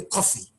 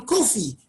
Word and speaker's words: Kofi: Because they were calling me Coffee. And I kept saying, I'm not Coffee, I'm Kofi. But they couldn't get it.